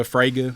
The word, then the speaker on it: Fraga: I said that right Dan froga would be the artist okay froga Fraga however you pronounce that